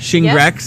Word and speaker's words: Shingrix: Shingrix, that's how you say it?